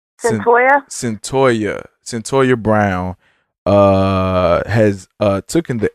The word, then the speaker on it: Cyntoia: Cyntoia.